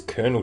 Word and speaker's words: colonel: Why is Colonel spelled like that? Like C-O-L-O-N-E-L? Colonel. Such a weird choice.